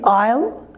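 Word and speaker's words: I'll: For example, you can see here A-I-S-L-E, aisle, and then I-S-L-E, this is also pronounced aisle, and the contraction form of I will is also pronounced aisle.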